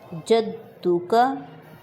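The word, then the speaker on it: جَدُّكَ: برابر کھینچیں گے۔ وتعالی جدک، دال پہ شاد ہے، زور دے کر پڑھیں گے، جدک، وتعالی جدک۔ نیکسٹ،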